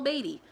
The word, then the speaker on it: Beatty: saying his name wrong I kept saying Paul Beatty it's not Paul Beatty it's Paul baby anyway I gave this